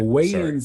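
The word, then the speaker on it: Wayans: So, weighins is spelled W A Y A N S.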